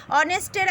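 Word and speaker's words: honest: সেন ইজ কী হবে, অনেস্টের আগে কী হবে, দেখো এইচ হচ্ছে কনসোনেন্ট, এর আগে এ হওয়া উচিত, কিন্তু এটা হবে না, এ অ্যান হবে। কেন, এখানে এইচের কিন্তু উচ্চারণটা হচ্ছে না, অনেস্ট ভাওয়েলের মতন উচ্চারণটাও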